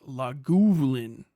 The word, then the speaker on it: Lagavulin: Lagavulin is whiskey, pronounced Lagavulin.